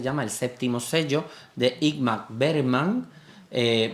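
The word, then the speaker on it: Ingmar Bergman: de igm berman eh Me cuesta trabajo pronunciarlo porque como diga como lo diga como yo hablo es Inma berman y parece que estoy llamando a mi hermana que se llama inmaculada Bueno pues de imma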